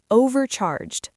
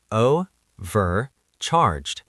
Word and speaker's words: overcharged: Overcharged. It has three syllables. Overcharged. Notice how the stress is on the first syllable. Overcharged. And the e d at the end sounds like a d.